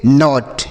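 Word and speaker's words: knot: तो के एन ओ टी इसे हम पढ़ेंगे नॉट।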